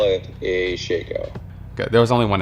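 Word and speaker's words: Shako: Is it pronounced Shaco, Shaco, or do you call it Harlequin's Crest? I call it a Shaco.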